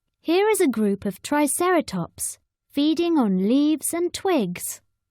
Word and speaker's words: Triceratops: Triceratops means three-horned face how do you say it Triceratops say try Sarah tops in the swamp a